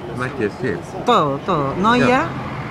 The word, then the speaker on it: Matjes: ¿Cómo se pronuncia? Matjes, sí.